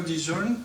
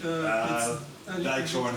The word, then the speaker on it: Dijkhoorn: And I'm very honored to invite Victor Dijon, please. Sorry, Dijkhoorn it's correctly pronounced, but I listen to everything.